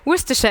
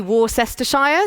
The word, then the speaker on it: Worcestershire: very good at having all kinds of complicated pronunciations that don't look anything like the way that things are written so Worcestershire is how you say this but you'd be